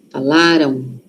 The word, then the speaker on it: falaram: Aqui a sílaba forte tá no lá. Falaram. Falaram. Aquele M ali. Tem som de o aqui, ó.